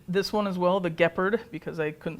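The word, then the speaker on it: Gepard: one as well the gephard because I couldn't say it right so I had to rhyme with leopard because I didn't think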